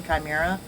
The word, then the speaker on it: Chimera: and a couple others, or Chimera, I guess I should say, like pronounce it correctly, Chimera.